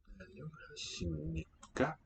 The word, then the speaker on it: 안녕하십니까: 안녕하십니까? 안 first syllable 녕. Again, right? B is going to sound like 심니, and then here we get a tense one, GGA or KKA.